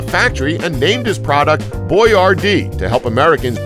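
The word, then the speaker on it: Boyardee: he opened a factory and named his product boy Rd to help Americans pronounce his name correctly 14 Abba stood for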